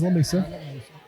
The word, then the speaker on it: Lamesa: And it's pronounced Lamesa, by the way. Yep. It is Lamesa.